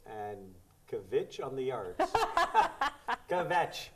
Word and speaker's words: kvetch: Kvetch. Kvetch. Kvetch. Kvetch. One syllable. One big Kvetch.